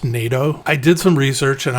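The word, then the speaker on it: nyatoh: ever heard of before it's spelled n-y-a-t-o-h but I've seen online that it's actually pronounced NATO I did some research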